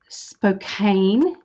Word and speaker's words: Spokane: Spokane Valley in Washington. Have I said that right? I do apologize if I haven't. Oh, so I did do it right.